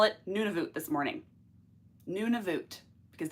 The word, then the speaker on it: Nunavut: there she calls it Nuno Nuno nun I hear we hear different pronunciations for it depending on where you are in Canada or who's actually trying to be accurate I'm going to call